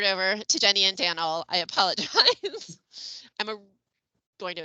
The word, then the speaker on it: Daniel: Now I'm going to turn it over to Jenny and Daniel. I apologize. I'm going to advance the slide as well. There we go. Thanks, Kathy. So I am Daniel, that rhymes with flannel.